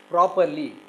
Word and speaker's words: properly: Suppose, see, properly, the first syllable is stressed, and there will be a mark like this, stress mark.